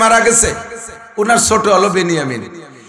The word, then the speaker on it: বিনিয়ামিন: 2 ভাই, আপন 2 ভাই, ইউসুফ আর বিনিয়ামিন। বনিয়ামিন না, একটু উচ্চারণ শেখেন। বিনিয়ামিন শব্দটা কি গন্ত? বিনিয়ামিন। আর বনিয়ামিন কেউ নাম রাখলে বনিয়ামিন বললে বিনিয়ামিন।